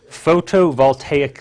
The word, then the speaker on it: photovoltaic: that to photo voltaic it's a big word I'll spell it out for you - its pH OTO like photo voltaic is vol ta IC